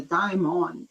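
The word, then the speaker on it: daimon: gree and understand that the demon was not pronounce as Deon he was a diamon and Diamond was uh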